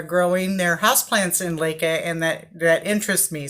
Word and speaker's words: LECA: of response on how to grow plants in lekha so um the first thing I want to tell you is I have been pronouncing that word incorrectly in my videos I have been pronouncing it Lika and it's actually lekha it's pronounced alayka so